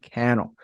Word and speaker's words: Cannell: um my name is Cannell rhymes with YouTube channel think media helps people